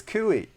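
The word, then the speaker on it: kuih: We're going to pronounce it Kuey because we're right and we're Americans. Kooi. It's Kooi.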